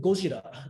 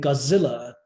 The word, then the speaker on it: Godzilla: I insist on using Godzilla, the Japanese pronunciation, to talk about the Japanese version, and Godzilla to talk about the American adaptation, because I think they